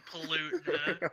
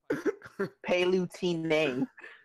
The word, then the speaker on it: Palutena: Palutena? Who the fuck just said Palutena? I mean, have you not explored her custom moves? They're actually pretty cool. Palutena. Palutena. That's the correct way to say the name, bro.